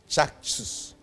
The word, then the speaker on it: Caksus: Because Sanskrit no C no obe pronounce it as CH in English. As all kinds of Charles and so Caksus.